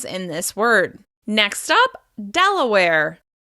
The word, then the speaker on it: Delaware: Next up, Delaware. Delaware. This state is stressed on the first syllable. Delaware. Delaware. Delaware. Remember, you need to hold that stress syllable and then close back down afterwards. Delaware.